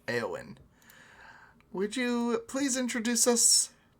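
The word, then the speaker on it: Éowyn: Am I pronouncing that right? Eowyn, yes. Eowyn.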